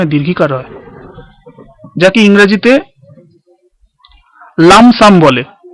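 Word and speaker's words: lump sum: এক হচ্ছে এককালীন, যাকে এককালীনে মনে হয় দীর্ঘিকার হয়, যাকে ইংরেজিতে লামসাম বলে। LUMPSUM, এখানে পি এর উচ্চারণ হয় না, লামসাম।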